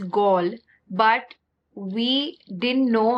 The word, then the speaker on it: Galle: And when we got there, we realized that this place, which is called Galle, it's spelled Galle. I think they pronounce it as Galle, but we didn't know